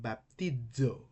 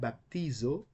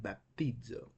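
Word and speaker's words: βαπτίζω: If zeta begins a word, it will be pronounced as Z in zero. But if it is in the middle of a word, it will be pronounced as D. Okay? So that's why we have Zoe, not Zoe, but Zoe, and baptizo, not baptizo, but baptizo. Thank you, Athena.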